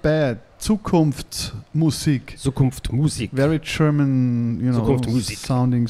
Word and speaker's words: Zukunftsmusik: So we're going to talk about your new album, Zukunfts Music. Future Music. Yeah. Did I say it right? Zukunfts Music. Not bad. Zukunftsmusik.